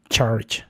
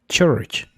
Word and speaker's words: church: Porque muchas veces pensamos que la u suena como a, pero en este caso no es así, no es charge, sino church.